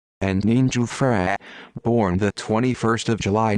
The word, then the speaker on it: Antonino Giuffrè: Antonino Giuffrè, Italian pronunciation, Antonino Giuffrè, born the 21st of July 1945, is an Italian mafioso from Caccamo in the province of Palermo, Sicily.